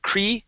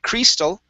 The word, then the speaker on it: crystal: no longer there okay instead of cree okay uh keep it keep it down push the tongue down a little bit so cr the crystal